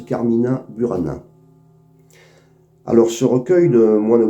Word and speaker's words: Carmina Burana: In taberna, c'est un texte issu du recueil des moins Goliard, recueil qui apporte titre Carmina Bourana et que l'on prononce dans le nord de la France, Carmina Burana.